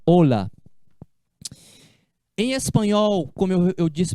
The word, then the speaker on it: hola: Com H é o comprimento. Hola, que tal? Hola, buenos dias. É com H. Mas a pronúncia é a mesma. Hola.